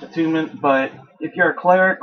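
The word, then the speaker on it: Attunement: trying to do the characters that I am a tournament a tournament is for like clerics like a tment atun it's actually pronounced atunement but if you're a cleric or anything like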